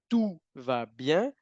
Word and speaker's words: tout va bien: Bueno, la primera, tenemos la OU juntas, que en francés indican lo mismo que la U normal en español. OU juntas, sonido U normal.